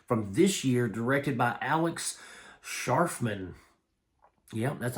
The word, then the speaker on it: Alex Scharfman: Guys, today we're talking about a movie from this year directed by Alex Scharfman. Yep, that's how you say his name, Alex Scharfman.